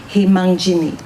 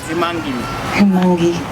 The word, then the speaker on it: Himangi: We now have the Chowdhury family, and it's Mitish and Himangjin. That one I don't think was even really that close. Just so polite. I know. How do you pronounce it? Himangi.